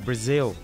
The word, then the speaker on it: Brazil: Và tiếng Anh đọc là Brazil.